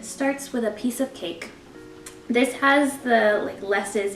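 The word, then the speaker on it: Kaike: ka i ke but it is pronounced cake it was founded by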